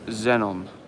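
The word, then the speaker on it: Xenon: It's pronounced Zenon.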